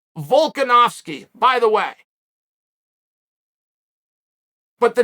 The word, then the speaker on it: Volkanovski: The name was pronounced Volkanovski, by the way.